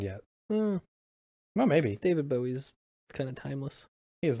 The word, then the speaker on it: Bowie: David Bowie's kind of timeless. He is a little timeless. Yeah, so James Bowie, or Bowie, sorry, it should probably be pronounced Bowie. It's Bowie. Oh.